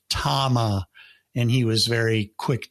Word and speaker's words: Tama: So I said it wrong. I said Tamla because I was thinking Tamla, that was a record label. That was a Motown record label. Stevie Wonder did a lot of Tamla records. So I was thinking, maybe that's what it is. Well, no, it was Tama.